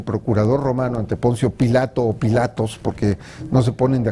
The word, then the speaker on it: Pilato: diversas escuelas de latinistas la escuela alemana por ejemplo señala que debe pronunciar pilato no pilatos esa es una versión un poco más española o italiana de la traducción y tenías que necesariamente